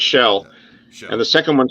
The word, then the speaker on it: Kjell: Is it Kel or Shell? I was gonna tell you the way you pronounce it is the first name sounds like a seashell. It's Shell.